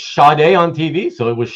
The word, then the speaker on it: Sade: to do with Sade and why some people pronounce it Charday, and how Marcus says that he thought when he was a kid it was Sade or Sadie. I always said Sade. Yeah. Hey, they said it's Sade on TV, so it was Sade.